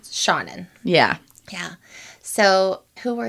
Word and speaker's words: Seanan: I had to look up how to pronounce her name. It's Shaunen.